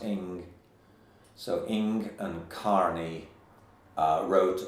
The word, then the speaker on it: Ng: This is by Unger and Carney, and Ing is spelt N-G, but pronounced Ing.